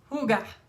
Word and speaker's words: Hygge: Hygge.